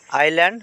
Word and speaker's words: আইল্যান্ড: পি বর্ণ silent বর্ণ আইল্যান্ড আইল্যান্ড মানে দ্বীপ ইয়াতে এস টহল সাইলেন্ট বর্ণ রিজাইন রিজাইন মানে ইস্তফা